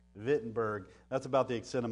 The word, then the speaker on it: Wittenberg: and you notice that the German pronunciation W vittenberg that's about the extent